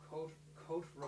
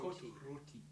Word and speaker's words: Côte Rôtie: Côte Rôtie. Côte Rôtie. You're going to need to email me that. I'm going to get some. And you'll have to be able to pronounce it properly. Yes. Côte Rôtie.